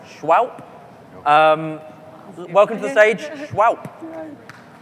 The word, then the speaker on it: Shwowp: I guess they're pronounced Shwowp.